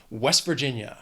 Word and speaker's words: West Virginia: If you say it quickly, you really almost don't hear that T at the end. It almost sounds like you're saying my name, West Virginia.